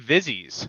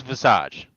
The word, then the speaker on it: Visage: so here we go Vis everybody hear that we good Vis so we're going to go with vies so yes I thought it was vage personally apparently it's Visage I